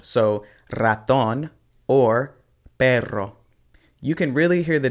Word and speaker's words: perro: with these two words the first one is pero and it means but the second one is perro and it means dog so the way that you pronounce these is going to be key because they mean two completely different things even though they look